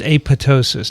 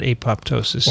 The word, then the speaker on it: apoptosis: no no look you look at the greek words p-t-e-r do you call do you pronounce them pater no they're optimistic right so it's apoptosis not apoptosis i've heard it referred